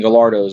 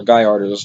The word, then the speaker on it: Gallardo: When you go out in real life, companies like Underground Racing have built twin turbo like Lamborghini Gallardos or Gallardos, depending on how you pronounce it.